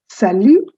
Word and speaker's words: salut: Please note also, the word salut has a T at the end, but that is silent. So you don't say salute, you say salut.